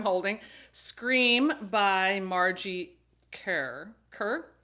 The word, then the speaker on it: Kerr: scream by margie care kerr margie kerr k-e-r-r i thought i was kind of pronouncing it like deborah carr anyway uh yeah this